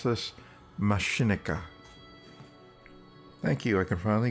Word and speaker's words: Machinika: How do you pronounce this? Machinika.